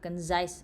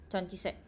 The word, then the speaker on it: concise: Conise apa bacanya? Concise.